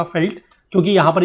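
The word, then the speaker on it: veld: मतलब होता है फील्ड लेकिन इसको प्रोनाउंस किया जाता है फेल्ट ठीक है इसको वेल्ड नहीं बोलते मैंने आपको ऊपर से बोला कि इसको वेल्ड वेल्ड बोलते हैं वेल्ड नहीं है this is known as felt ठीक है मैं जानबूझ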